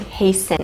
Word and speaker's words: hasten: to hasten to hasten be careful with pronunciation the t is not pronounced heisen hasten it's just an s